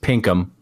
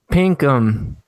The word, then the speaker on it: Pinkham: something to me but his last name is pronounced Pinkham Pinkham yeah well Pinkham you you're new I was